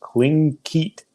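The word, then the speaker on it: Tlingit: Tigleet is pronounced Klinkit.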